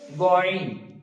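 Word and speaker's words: غ: তো তারপরে আছে গয়ন, ঠিক একই ভাবে গয়নটা উচ্চারণ হবে, গয়নটা হালকা কণ্ঠনালীর উপর দিয়ে, আইনটা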